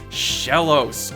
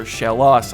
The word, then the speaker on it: Shellos: haven't seen thus far Shellos or Shellos I guess is the proper pronunciation Shellos first of all